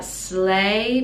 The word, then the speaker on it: sleigh: the reindeers slay slay so the g h is silent sleigh bells sleigh bells